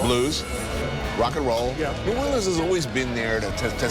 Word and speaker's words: New Orleans: way jazz faithful blues rock and roll yeah new orleans has always been there to say you know